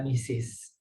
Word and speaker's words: Mrs: free itu Mr saja kalau Mrs itu adalah misis ya Oke kita lanjut